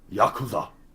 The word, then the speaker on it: Yakuza: How are you supposed to say it? Yakuza. That's okay. All right, dude. All right. Yeah, that's how they say it in the Japan.